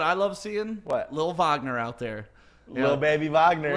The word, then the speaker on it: Wagner: And then, well, also, we kept calling him Wagner. Yeah, we did, because that's how it's spelled. Wow. It's Wagner, but of course he's German, so it's Wagner.